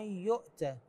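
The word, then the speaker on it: يُؤْتَ: تعالى ومن يؤتى الحكمه ومن يؤتى هكذا وليس ومن يؤتى الحكمه التاء هنا مفتوحه من دون اضافه الف بعدها في الصفحه 46 من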